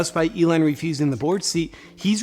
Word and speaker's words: Elon: Do you think Ellen...